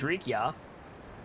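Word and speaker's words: Rikiya: I mean, his name's Rikia. Your pronunciation needs a little bit of work, Birchmila.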